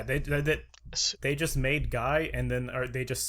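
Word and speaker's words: GAI: as a guy um it is g-a-i but everyone pronounces it g-y or spells it g-y-i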